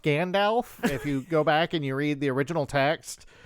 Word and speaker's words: Gandalf: Also, it's pronounced Gandalf. The way you typed it, I suspect you were saying Gandalf.